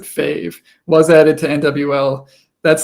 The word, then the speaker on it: FAV: Fav, or I guess you would pronounce it Fave, was added to NWL.